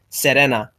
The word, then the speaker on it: Serena: It's Serena, but with the Spanish pronunciation, so it's pronounced Serena.